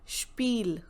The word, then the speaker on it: Spiel: SP sounds like again sh, so Spiel, Spiel.